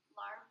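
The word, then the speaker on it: larb: Some popular dishes include pho, which is a beef noodle soup, lar, pronounced la, a minced meat salad with combined mint and herbs, papaya salad, and nava, a coconut-rich tapioca dessert served on ice.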